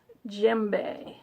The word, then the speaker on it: djembe: So, let's move from Tibet to Africa and talk about my little djembe, spelled with a D, but pronounced djembe.